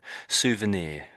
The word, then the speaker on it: souvenir: Yeah, souvenir. Yeah, so it's got this ear bit on the end there.